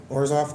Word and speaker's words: Orzhov: The, oh, man, I have no clue how to pronounce the black-white... guild, how do you say their name correctly? Orzhov, thank you, Christ.